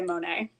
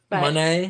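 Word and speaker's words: Moné: says it slightly differently but she pronounces it man I don't know man I think most people are going to say Monae mon but she says mon she says mon she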